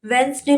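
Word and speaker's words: Wednesday: वेंसडे में क्या होगा, वेंसडे में साइलेंट क्या है, वेंसडे में साइलेंट है आपका, वेंसडे में साइलेंट है आपका डी। नाइफ में साइलेंट क्या है, के।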